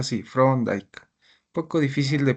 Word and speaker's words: Thorndike: Se pronuncia así, Thorndike. Poco difícil de pronunciar su apellido, ¿no? En español sería Thorndike, ¿no? Thorndike. Pero en inglés es Thorndike, ¿ya?